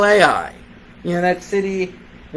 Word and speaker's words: Ai: how you say it is it a i no very simple ready ai makes sense so last week we